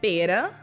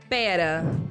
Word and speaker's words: pera: A fast example I can remember is, for example, in the two words pera, that is the fruit, pear, or pera, that is the short version of the word espera, to wait.